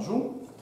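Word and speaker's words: Joux: Антуан Джу, знову пишеться зовсім не так, як читається.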